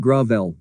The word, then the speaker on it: Gravel: Senator Gravel, pronounced Gravel, like most of his